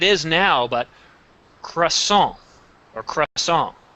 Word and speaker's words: croissant: english word it is now but croissant or crush song p is solon the t is silent because it's a french word jean poco